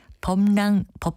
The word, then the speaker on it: 법랑: 때는 어떻게 써야 할까요 발음 나는 것처럼 미음을 써서 법이라고 쓰지 않을까 생각하는 분들도 있겠지만 이것은 한자의 법랑 자의고 이름 낭자가 결합했습니다 그래서 표기할 때는 비을 쓰는 법랑이라고 하지만 자음 동화에 의해서 글자는 전혀 다르게 범이라고 발음합니다 바른말 고운말 아나운서 변의